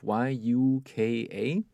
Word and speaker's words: Yuka: that my wife uses is called Yuka and it's spelled out y u Ka Yuka and this app has a symbol of